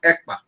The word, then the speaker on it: Ekpa: My name is Ekpa.